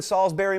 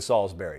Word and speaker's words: Salisbury: yesterday, and say, hey, I live in Salisbury, Maryland, but they don't live in Salisbury. That's the way I would pronounce it. The locals pronounce it Salisbury. Now, I don't believe in that any more than I believe syrup should be pronounced syrup, but it's not my town, it's your town.